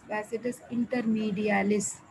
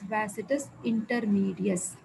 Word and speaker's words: vastus intermedius: Coming to vastus intermedius, most of you will pronounce it as vastus intermedialis. I'm correcting now itself. Please do not pronounce it as intermedialis. It is not intermedialis. It is vastus intermedius.